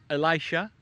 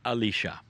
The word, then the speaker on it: Elisha: has a name and it's pronounced many ways In some cultures it is Elisha in some it is Alisha you will find the